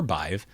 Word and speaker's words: BIVE: And somewhere in between regulars and exceptions are ambiguous anchors like BIVE, which could be pronounced biv or bive, but in this case it's bive.